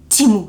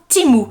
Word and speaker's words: Temu: va bien préciser que ça se prononçait Timo ça s'écrit temu mais ça se prononce teeo donc timou si vous ne vivez